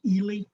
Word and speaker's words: Ely: one pronunciation thing uh it's not eli it's ely ely the bishop of ely okay thank you yes yes